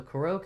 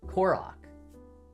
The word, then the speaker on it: Korok: Korok. Okay. Korok. So it's probably Korok. I'm trying to put the emphasis on the first syllable as you spelled out.